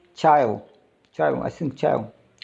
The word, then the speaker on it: chyle: I think chyle pronounced.